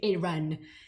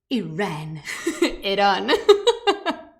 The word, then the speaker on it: Iran: Oh, that was such a British way of saying Iran. Iran. I'm very grateful for having the property to say Iran as it is, at least how people pronounce it properly.